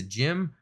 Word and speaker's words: GM: on but as an official designation it's a gym of course it's spelled gm but pronounced it as it goes